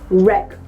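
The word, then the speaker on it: wreck: इज रेक now again W आर का combination है उससे शब्द शुरू हो रहा है हमारा and that is व्हाई वी are going to keep letter W silent we will pronounce it एज रेक what about this one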